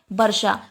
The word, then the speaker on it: वर्षा: जैसे वर्षा जैसे वर्षा ज्यादातर लोगों का उच्चारण यह होता है कि वह वर्षा को वर्षा ना बोलकर बरखा बोलते हैं क्या बोलते हैं वर्षा को वर्षा ना बोलकर बरखा बोलते हैं तो यह उच्चारण जो है वह हमारा बिल्कुल गलत है तो सही उच्चारण हमारा क्या है वर्षा तो शिक्षक को बच्चों